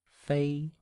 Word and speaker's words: 飞: Fei.